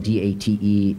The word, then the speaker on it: Date: Given that my name is spelled D-A-T-E, but pronounced Date, you would think that I would get that right.